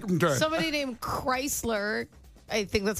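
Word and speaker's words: Krisler: Somebody named Chrysler, I think that's how you say it.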